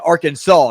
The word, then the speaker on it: Arkansas: to an scc school called arkansas isn't it arkansas yes it is christian that's how you pronounce it for some weird reason saint peter's